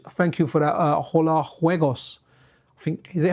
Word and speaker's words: Juegos: Thank you for that, Hola Juegos. I think, is it Juegos or is it Juegos? Because I got told the Spanish, the J is pronounced like a H.